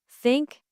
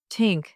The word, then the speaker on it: think: in words like thanks, think, and with. Many learners replace it with s or t. To pronounce th correctly, place your tongue lightly between your teeth and blow air out.